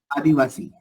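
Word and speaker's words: Adivasi: What is the s pronunciation? Salman. Adiwasi.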